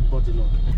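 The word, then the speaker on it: Bourdillon: After Alexander, then we get to Bodilon. Is it Bodilon or Bodilon? Bodilon. Like just like body. Bodilon, yeah. It's Bodilon. BODILLION. Bodilon. Bodilon. Oh. Bodilon, Otilon. LLON, yes, sir. Bodilon. It rhymes with Otilon.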